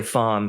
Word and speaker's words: Pham: And, Koi Fom, he's a longtime artist that I'm partnered with on a host of different things. And that's spelled PHAM.